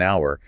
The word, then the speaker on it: hour: Right, like how we say an hour because the h is silent and it starts with an owl sound.